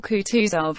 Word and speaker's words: Kutuzov: said anna pavlovner general kutuzov said bolkonski speaking french and stressing the last syllable of the general's name like a frenchman has been pleased to